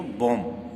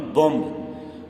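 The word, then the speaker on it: bomb: क्या पढ़ती हैं इसको, बॉम्ब, नॉट बॉम्ब, बॉम्ब नहीं पढ़ते हैं। बॉम्ब जो प्रोनाउंसिएशन है वो इंग्लिश के हिसाब से रॉन्ग हो जाएगा।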